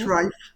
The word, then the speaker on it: Reif: In this podcast, my guest and I, David Reif, I always have Reif. trouble with your name, Dave. Reif. We'll And be now the it's right. It's Reif. It's a Reif. long I. Rhymes with strife.